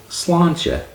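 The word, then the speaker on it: slàinte: Slinte, slinte, slancha, teth, teth.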